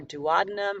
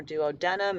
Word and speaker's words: duodenum: small intestine, which is called your duodenum or duodenum. It's pronounced both ways.